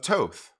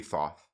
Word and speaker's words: Thoth: the egyptian god of toth pretty sure that's toth i think the that first age is silent i could be wrong it could be thoth i'm pretty sure it's tote like most other works attributed